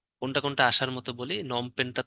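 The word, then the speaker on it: Phnom Penh: কোনটা আসার মতো বলি নমপেনটা তো আসে নমপেন বানানটা একটু মনে রাখতে হবে আপনাদের কম্বোডিয়ার রাজধানী নম পেন নম পেন পি দিয়ে শুরু নম পেন আবার লাস্ট একটা এইচ আছে ইস্তিমুরের রাজধানীটা আসে তিলি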